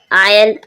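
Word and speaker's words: isle: जब आई के बाद एस आए, जब आई के बाद एस आएगा एस साइलेंट रहेगा, आइलैंड।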